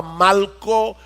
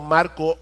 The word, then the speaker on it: Malco: sabemos que se llamaba Malco. Y no estoy pronunciando Marco mal, es que se llamaba Malco con L.